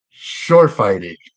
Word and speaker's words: Schorfheide: guest and I know I'm not going to say this correctly to start uh her name is Janette Shor fighting I you said it right was did I say it right all right BR like a good German sounded good there we go Janette